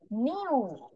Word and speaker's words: knew: আর এটার প্রোনাউন্সিয়েশন কি? নিউ, KNEW, নিউ। নিউ অর্থ জানতো, মানে অতীতে কিছু একটা সে জানতো।